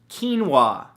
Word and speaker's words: quinoa: Number 2, quinoa, spelled Keenwah. No, that's not how it's spelled at all, but it should, right?